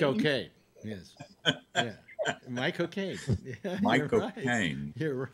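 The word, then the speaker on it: Michael Caine: friend of mine once taught me how to say the name michael kane the actor michael kane the way to do it is to say the words my cocaine my god mike okay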